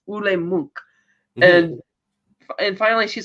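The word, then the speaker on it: Ole Munch: And he does tell her how his name is pronounced. It's Ule Munk.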